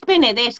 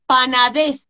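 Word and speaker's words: Penedès: están diciendo Carmen Penedés, que lo sé que es Penedés, que sé que se escribe Penedés, pero es que me voy para Panadés, lo siento, pero luego lo corrijo, me doy cuenta y digo Penedés, ¿vale?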